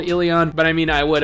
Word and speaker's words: Elyon: go ahead here and assume that it's pronounced ilion i know there are some people that are calling it alien and to me i don't know that just kind of sounds weird i don't know like